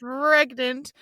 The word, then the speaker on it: regnant: And so I researched it and I'm like, nope, it's regnant. And I even put, I thought you just said it wrong. And I was like, I don't want her to be embarrassed like when this launches and get a bunch of people being like, it's regent. So I thought I'd call it out.